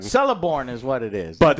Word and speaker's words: Celeborn: It's Celeborn. Celeborn is what it is.